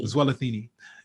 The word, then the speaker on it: Zwelithini: You want to pronounce that name? Zwelithini.